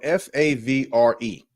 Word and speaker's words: Favre: His last name is spelled Favre, but when you pronounce it with the R before the V. It's Favre.